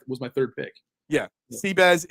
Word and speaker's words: Bezuidenhout: Seabass is how you say Bezuidenhout when you can't say Bezuidenhout, basically.